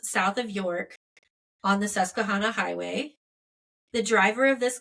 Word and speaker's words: Susquehanna: So south of the city of York in Pennsylvania, highway officials chose this, I looked up how to say this, Susquehanna Trail.